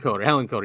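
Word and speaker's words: Hillenkoetter: Hillenkotter, I think. Hillenkotter, yes.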